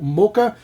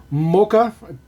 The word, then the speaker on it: Mokka: So there is our brand spanking new casting, our Opel Mokka. Pretty sure that's the way you pronounce that. M-O-K-K-A.